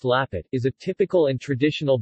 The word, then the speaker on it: Lampet: lamb fat girl a pet pronounced lappet is a typical and